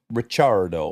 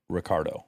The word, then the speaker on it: Ricciardo: it would be pronounced richardo yeah there's two C's there's two C's but because he grew up in Australia he pronounces it Ricardo oh and since we